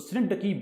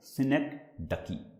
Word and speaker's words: synecdoche: हम क्या बोलते हैं, synecdoche। synecdoche, इसका प्रोनाउंसिएशन थोड़ा सा इंटरेस्टिंग भी है और थोड़ा सा ट्रिकी भी है। तो बहुत सारे उसको गलत तरीके से synecdoche पढ़ते हैं, बट इट्स synecdoche है।